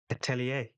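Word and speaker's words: Atelier: And then the witch hatila atilia I don't actually know how to pronounce that word. Atellier. There we go. That sounds right. What I was saying sounded like not a word.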